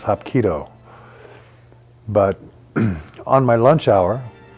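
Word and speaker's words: hapkido: I'm thinking to myself hop kadoo what could that possibly be hop kadoo later I found out the way you pronounce it is hopo but on my lunch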